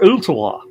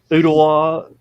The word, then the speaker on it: Ooltewah: Or Ooltewah. Ooltewah. Whoa. Yeah, Wool. When you see WHIT, WELL, there's it's pronounced Wool. There's O's in it, pronounced with O's.